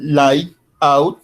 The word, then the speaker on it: layout: van a ver ustedes cómo se escribe like como con y al final light out como fuera es el layout ese es el diseño